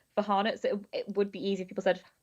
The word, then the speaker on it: Farhana: I'm really sorry but my name's actually pronounced for haret so it would be